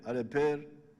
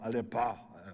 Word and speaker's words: Aleper: Aleper, I think they were calling him Alepa.